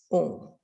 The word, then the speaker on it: Om: sound with me the word o is spelt a u m represents awake dreaming dees